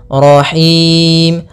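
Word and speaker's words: الرحيم: nahim nahim nya tipis kemudian rnya lagi tebal karena di sini ro tafkhim yaitu ro yang berharakat tasdid nirahim yaahim rahim rahim Kemudian pada lafal him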